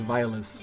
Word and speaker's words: violas: Oh, no, I'm gonna pronounce it violas. Violas. The official way.